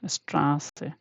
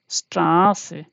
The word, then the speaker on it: Straße: Yeah, let's take another example, Straße. Yeah, Straße, we have already seen that. Beta I don't have, so I'm just writing double S for beta. Okay, so this should be read as Straße. Yeah, Straße.